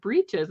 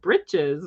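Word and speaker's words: breeches: hearing the pronunciations because I had always said breaches you know a man in his breaches and boots and and she pronounced it Brites I was like okay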